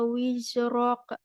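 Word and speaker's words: وزرك: Wa wada'na anka wizrok. Jangan wiza. Wizrok. Wizrok.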